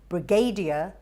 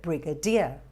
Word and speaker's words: brigadier: have a look brigadier often mispronounced with emphasis on the third syllable so you won't say brigadier but brigadier onion the o is